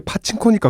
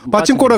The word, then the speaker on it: 파친코: 그래서 어쨌든 파친코는 근데 이게 원작 제목이 파친코니까 그렇게 말은 하긴 하는데 이게 잘 안 붙죠 우리한테 그냥 빠친코라 그러는 게 제일 편한데. 그러니까 저도 모르게 검색을 빠친코로 하고 있어. 파친코로 돼. 그게 약간 미국식으로 그걸 발음한 거다 보니까 뭐 어쨌든 파친코라고 써 있습니다.